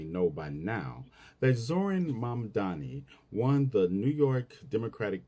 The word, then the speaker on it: Mamdani: And furthermore, the name is Mamdani. M-A-M-D-A-N-I. You should learn how to say it.